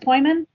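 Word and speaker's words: Pojman: And that's pronounced Poyman? Poyman, yes.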